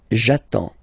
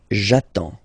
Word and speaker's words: j'attends: So the first form will be j'attends, j'attends. Okay, you get D and S, well, basically you don't pronounce them, okay, and then you get only the sound attends, nasal here, en, j'attends, okay.